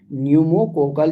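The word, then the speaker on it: pneumococcal: पी यहां पर silent है। न्यूमोकोकल जो वैक्सीन होती है वो किससे बचाता है?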